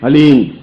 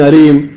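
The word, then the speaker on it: ह्लीं: के साथ हली बस ये हलीम शब्द बहुत ध्यान से उच्चारण करने देना है एच ए एल ई ई एम हलीम कोई बोले हरीम कोई बोले हीम तो कुछ फायदा नहीं होगा हलीम हलीम और हलीम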